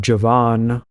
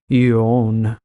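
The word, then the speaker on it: Javan: history then you have Javon which is not actually pronounced that way again it's actually y own and that also coincides with the Greek name which also does not have J's in it and the J's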